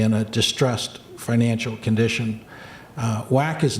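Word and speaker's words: WACC: cost of capital or whack as the acronym is pronounced when is it not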